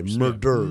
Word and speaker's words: murderers: Murderers. Multiple multiple murderers. Single mur. It was one. It was one murder one murder. One murderer. Finish. There's an extra syllable from murdered to murderer.